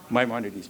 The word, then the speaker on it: Maimonides: He says there are 8, his name is Maimonides. I don't know if I pronounce it correctly. Jeff? Maimonides, perfect.